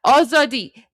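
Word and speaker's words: آزادی: for a because if you if you say oadi, that means you're beating up freedom. But you can say for a which means, you know, you're beating up people for freedom. So there you go. But yeah, oadi.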